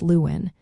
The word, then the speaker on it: Luan: Starting with Monday, we say Luan, pronounced Luin.